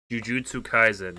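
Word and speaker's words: Jujutsu Kaisen: jigsaw puzzles at all have you ever watched jujutsu kaizen this is caspian's question sorry i had to make sure i was pronouncing this right jujutsu kaizen i have it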